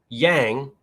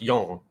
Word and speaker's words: yang: pr i'm pronouncing wrong mandarin yang is pronounced young other than that not